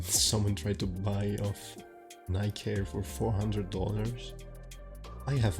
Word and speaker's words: Nike: Because the brand is actually based off of the Nike. So the correct pronunciation should be Nike.